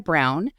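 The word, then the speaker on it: Braun: and is by Victoria Brown and Victoria Clark just a hint of the word wise though Brown is uh it's pronounced brown but it's spelled b r a u n which suggests brwn but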